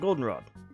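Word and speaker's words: Goldenrod: cool we've arrived at Golden Rod the accent is on the o all right well here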